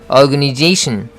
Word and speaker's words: organization: organization. 마찬가지로 tion으로 끝나잖아요. 그러니까 they 할 때 스트레스가 들어가는 거죠. organization. 여기서는 organization 하고 읽었는데 이것은 in Washington DC 때문에 그렇습니다.